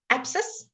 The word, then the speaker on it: abscess: So when it's SC, when very seldom say sk, okay, it's mostly s. So the silent letters C.